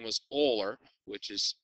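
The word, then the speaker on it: Euler: come up with this guy whose name was oler which is spelled like this okay so that's why we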